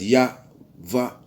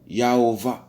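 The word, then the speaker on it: YHVH: So that when you pronounce Y-H-V-H, you'd get Ya-Va, Yahovah, you know? So you see where Jehovah comes same way.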